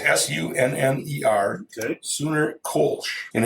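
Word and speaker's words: Kölsch: So the little bit more it says here is, so how do you say the U? Ooh. Sure. It was Sunner that brewed the first beer in the modern Kolsch style. Kolsch, there you go.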